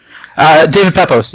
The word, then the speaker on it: David Pepose: Did I pronounce that right, Dave? David Pepose, yes.